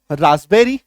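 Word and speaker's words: raspberry: को काट दो क्योंकि प के बाद बी आ रहा है अब पढ़ो राबरी आ गया आई बात समझ में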